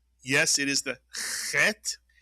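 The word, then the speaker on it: חית: It makes the clearing of the throat sound. It looks a little bit like a hey, but it has no hole. So, it is the chet. And it is designated in English by the letters ch, because there is no ch sound in Hebrew, so we can use the ch for the clearing of the throat as in chet.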